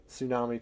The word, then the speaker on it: tsunami: Dummy is because it's a loan word for Japan where it is pronounced with a T, and so when it's transliterated, we heard them say it with a T and spelled it tsunami.